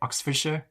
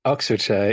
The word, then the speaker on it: Oxfordshire: even said Ox Oxfordshire is that how you say it Oxfordshire Oxfordshire yes yeah sure not